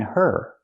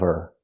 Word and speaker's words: her: Now we need the Vv sound in of because we don't pronounce the H in her. We link the sounds. Get out of her.